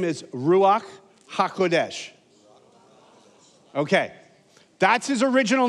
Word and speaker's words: ruach: his first name is ruach did you hear that ruach ruach okay it's not with a K it's ruak okay his last name is hakodesh so his full name is ruach hakodesh okay that's his